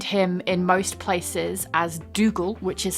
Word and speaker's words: Dougal: you can find him in most places as Dougal, which is spelt Dooougle.